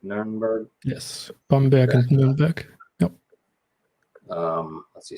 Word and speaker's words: Bamberg: Yes, Bamberg and Nuremberg.